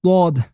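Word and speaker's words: ضاد: It has a D sound like the D of dot, but its place of articulation is different than that of a D. It is pronounced by placing one side of the tongue on the molar teeth on the backside.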